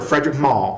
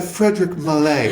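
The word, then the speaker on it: Frédéric Malle: And he goes, Frederick Mallet. And I was like, girl, I have been calling it, girl, I wear Frederick Mall. Okay? And it's Frederick Mall. And he's like, Frederick Mallet.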